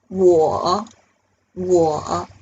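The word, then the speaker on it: 我: me okay so i in chinese we say war war so the pinging s-w-o-w-o so the w here the pronunciation is so war war okay oh maybe you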